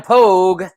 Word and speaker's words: Pogue: We are live with Sam Pogue. Rhymes with Rogue.